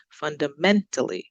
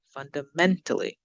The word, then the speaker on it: fundamentally: the right stress so let's look at the first one fundamentally so we're going up on the men fundamentally fundamentally essentially essentially surprisingly surprisingly